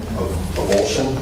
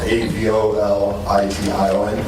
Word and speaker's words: abolition: Avulsion. Maybe I'm pronouncing it wrong. A B O L I T I O N.